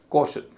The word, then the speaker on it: caution: जैसे कॉशन, CAUTION, शन से पहले एक ही सिलेबल है, उसका उच्चारण भारी हो रहा है, कॉशन।